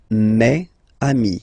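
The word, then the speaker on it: mes amis: plural form so it's me Ami okay and then let's be purist and make this beautiful Le between these two words Mami meami meami all right so I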